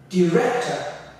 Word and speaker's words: director: Director. Director. He is the director of the movie. He's the director of the movie. The top, I almost like say top.